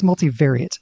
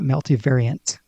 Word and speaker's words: multivariate: you to watch about multivariate statistics. I think it's multivariate, not multivariant. There's no N.